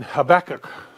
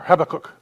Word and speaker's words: Habakkuk: next week will begin in Habakkuk or have a cook depending on how you want to pronounce it snack on a rib